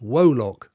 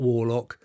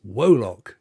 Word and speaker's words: Wolok: that i was right it's pronounced woe lock not warlock not wallocks it's wolok yeah no it's